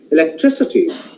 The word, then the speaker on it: electricity: Here, electricity. Tree is a stressed syllable.